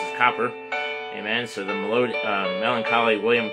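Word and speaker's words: Cowper: blood availed for me the melancholy william uh copper yes there is that william copper again whereas uh it's spelled here calper however you want to say it calper or copper that's how it's pronounced as copper amen so the melancholy william copper wrote there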